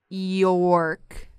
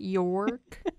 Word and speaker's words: York: Okay, York. That's how you pronounce your name, right? York? It's one syllable.